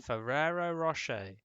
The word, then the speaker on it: Ferrero Rocher: It's like I know that Ferrero is spelt semi-phonetically, and then Rocher is Yeah. just Rocher, like CHE.